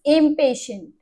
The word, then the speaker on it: impatient: कैसे प्रोनाउंस करना है, आई एम इम, और PA को प्रोनाउंस करना है PAY, पे, ठीक है। पा नहीं बोलना, पे बोलना है, इम पे शंट, ठीक